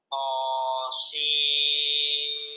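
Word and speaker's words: طسم: Jadi bukan sin, ujungnya bukan nun, tapi langsung langsung langsung mim.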